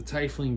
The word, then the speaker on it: tiefling: get and that's the tie fling battle master if you pronounce tiefling i'm sorry but i pronounce it tie fling i have been wanting